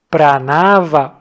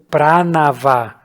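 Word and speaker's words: प्रणव: nessas duas coisas e vamos começar por Pranava ou Pranava. A essa altura você já entendeu que a pronúncia do sânscrito tem essas diferentes nuances. Você pode pronunciar das duas formas que está correto do mesmo jeito.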